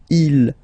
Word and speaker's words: ils: So you can notice that even if you've got this S at the end, and then here you don't have anything, well, you pronounce them the same way, okay? Il, singular form, il, plural form, okay?